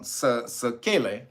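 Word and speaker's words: sequelae: recovered or recovering uh recovered with something called sakele and that's that word is spelled s-e-q-u-e-l-a-e and that means what a left-over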